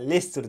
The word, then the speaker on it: Leicester: burada Ha bu arada Leicester diyorum ya bir tane arkadaşlık düzeltmiş ya leicesterne diye okunuyor diyerekten lister diyorum canım arkadaşım geçti arkadaşlar